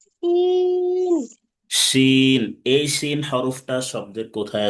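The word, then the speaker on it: شين: শিন। এই শিন হরফটা শব্দের কোথায় আসবে? প্রথমে। শব্দের প্রথমে আসবে। শিন হরফ উচ্চারণ করতে হবে কিভাবে? সা সা আওয়াজে উচ্চারণ করতে হবে।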